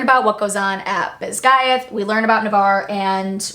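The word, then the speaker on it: Basgiath: is takes place at I'm going to call it bayth because that's how it's pronounced in the audio book I don't necessarily agree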